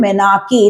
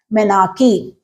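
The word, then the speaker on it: menarche: of age is called menarchy it's spelled like m-e-n-a-r-c-h-e but it's pronounced as menarchy the next one fixing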